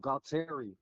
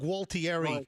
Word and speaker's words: Gualtieri: Bob Gautter. I'm sorry. What? Bob Gautterior. No, you're not pronouncing that properly.